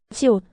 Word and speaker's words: 시옷: 시옷, 스. And s sound like in sun.